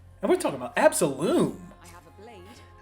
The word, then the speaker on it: Absolum: It's supposed to be pronounced It's basically a play on the word absolute.